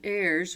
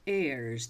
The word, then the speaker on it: heirs: In the last century, however, four successive heirs were of a dissolute and wasteful dis disposition. Now the word is heirs. The H is silent.